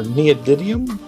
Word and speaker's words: neodymium: Make sure you get rare earth magnets, or neodymium, I believe is how it's pronounced.